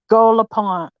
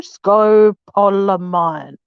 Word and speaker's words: scopolamine: So it's pronounced Scolopine. Oh, Jesus. I'm not nut. I want to say Scolopine. No, Scopolamine. Scopolamine. There you go, Scopolamine.